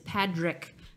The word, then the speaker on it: Padraic: but we have a Patrick Pearse. My entire childhood, people thought that we were mispronouncing my brother's name, and it was really Patrick. And no, it is Padrick.